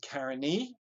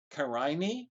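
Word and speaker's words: Carinae: is Karina and but we use the Latin genitive form so that would be Karen e Carini you'll see different pronunciations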